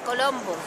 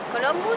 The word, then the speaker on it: Columbus: Esta es la ciudad de Colombos. Columbus. No, no. Colombo, no. La ciudad de Columbus.